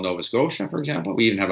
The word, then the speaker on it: Scotia: make the sound sh, but he would always pronounce it Nova Scotia. To him, TIA is Scotia. He didn't notice, he didn't make the effort to notice that, in fact, it's pronounced Scotia.